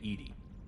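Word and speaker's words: EDI: airlock is a jar why are you named Edy Ed is the phonetic pronunciation of Ed that is an acronym for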